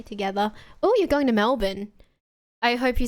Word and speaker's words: Melbourne: Melbourne. Melbin, if you want to pronounce it correctly.